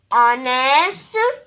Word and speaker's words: honest: Please note that we use an in front of a word that begins with the silent letter H sound. Here are some examples of words that begin with the silent H sound. Honest, honor, our, air. I am going to say them again. Remember, letter H says and you will not hear that sound.